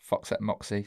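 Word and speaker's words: Foxette Moxy: got a new solo project which is correctly pronounced Fox at Moxy not what you said it's yeah you did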